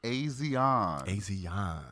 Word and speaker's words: Asiahn: Because the next one bringing to the stage is Asiahn.